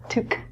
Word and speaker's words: toque: is a winter hat the pronunciation of this word is different than the spelling because it's French this is felt to took took the word itself qu e is a french spelling so any time that